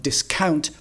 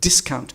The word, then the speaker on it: discount: The correct pronunciation is not discount, but discount with the stress on the first syllable.